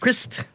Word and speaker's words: Krist: That's Krist, how he told me to pronounce Krist. It. You know, pronounce the T, too? Krist?